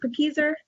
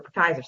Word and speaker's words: Pakieser: Am I saying it correctly, Pakieser? That is correct, yes. Okay, perfect, because I've had some debates with fellow trainers about whether it's Pakieser or Pakaiser, so I just won that.